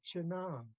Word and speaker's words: chana: Also with the vocative, chana, I still prefer the I because it helps you pronounce it better, chana.